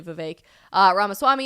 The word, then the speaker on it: Vivek Ramaswamy: You had Vivek, I know everybody pronounces it differently. I know it's officially Vivek Ramaswamy on stage, really shaking things up as a political outsider.